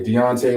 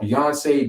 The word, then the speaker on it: Deontay: up i was born let's pronounce the american way deontay that's where i was born as and my mother changed my name to i had to change it back to deontay and then when i got tired of people even mispronouncing that that's the american way to pronounce my name and people still butcher it i got called beyonce you name it they still messed it